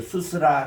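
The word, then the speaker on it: סוּס: 슈렉은 우의 긴 발음이에요. 그리고 또 사멕입니다. 그래서 수스라는 말이 뭔가니 홀스 말이라는 말이에요. 말. 우리 이제 말 타는 그 말을 그거를 수스라 그러는데 따라합시다. 수스.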